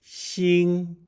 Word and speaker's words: 心: originated from the heart linking Shing to English words like think or singing here's the stroke order